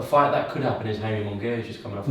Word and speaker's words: Jaime Munguia: A fight that could happen is Jaime Munguia. He's just coming off a win against Spike. Jaime Munguia. That's how you pronounce it.